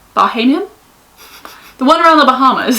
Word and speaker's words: Bahamian: a three night uh bahamian bahamian bohemian bohemian never say it right bahamian the one around the